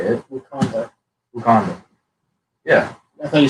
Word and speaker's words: Wakanda: Wakanda. Yeah. I thought you said Uganda.